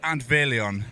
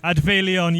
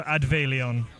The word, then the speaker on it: Adfeilion: So, it's Advil. Adveon. Yeah. The F in the Welsh alphabet is pronounced as a V. So, Adveon.